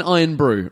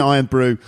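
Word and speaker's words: Irn-Bru: was the ginger hair because he was drinking iron brew right Scotland ladies and gentlemen is a is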